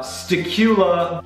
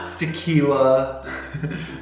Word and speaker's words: Sakula: aren't as easy uh sakula which is my channel name yes it's not sakila okay that's not how